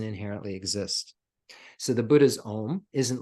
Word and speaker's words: OM: see the teata OM the OM has three syllables a and we think of